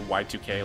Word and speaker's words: YIIK: It's spelled YIIK, like I, like Roman numeral 2, Y2K, like year 2000.